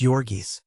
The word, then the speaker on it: Jurgis: with the mighty shoulders and the giant hands pronounced yorgis Ona was blue-eyed and fair while jurgis had great black eyes with beatling brows and